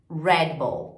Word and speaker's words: Red Bull: Storm ou somente e Red Bull é mais um exemplo desse I que a gente coloca toda vez que o som terminando uma consoante a gente vai falar Rebel ok a gente fala no português Red a gente coloca esse I no inglês não tem reple agora